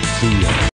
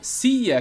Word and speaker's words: see ya: See ya. See significa ver, e ya é um jeito bem oralizado de falar you. Então, see ya, que literalmente significa vejo